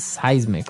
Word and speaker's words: seismic: to move M activity is movement and so seismic activity refers to earthquakes and volcanoes things that are changing under the ground that will affect us okay so that's seismic activity it's pronounced seismic right seis okay and uh because of all